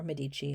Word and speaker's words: Medici: known as the medici you can pronounce it medici or medici it really doesn't matter which one you like but they come